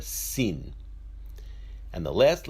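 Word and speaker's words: שׂ: pronounced as a sure when the Xin has a dash or a dot on the left side of the letter it is pronounced as a sir or a sin and the last letter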